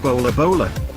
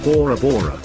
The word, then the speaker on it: Bora Bora: of the Tahitian language this could additionally be pronounced bola bola or Bora Bora the island's economy is